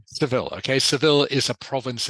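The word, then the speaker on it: Seville: in the sou okay civil civil it is pronounced civil okay civil is a province in Spain okay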